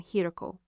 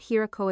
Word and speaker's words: Hioko: He fumbled at first, mispronouncing the client's lead negotiator's name, Hioko. Not Hiako, a detail I'd memorized months ago.